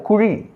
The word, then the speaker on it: குழி: செடியை அந்த குழியில நடு என் குழி என்று சொல்வது தவறு குழி என்று சொல்லுவதே சரி ழ சிறப்பெழுத்தாகிய ழவை அங்கே